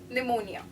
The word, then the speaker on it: pneumonia: be cooperate next is pneumonia we all know the spelling of pneumonia starts with p because p is silent so we read it p-n-e-u-m-o-n-i-e it should be pneumonia I hope you could